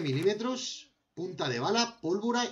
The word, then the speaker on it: pólvora: Carbón y pólvora de nitrato. Pólvora. Déjame eso ahí. Carbón y pólvora de nitrato. Vale, agáchate, sí. Vale, vamos a ver. Pólvora. Con acento en la O, sí.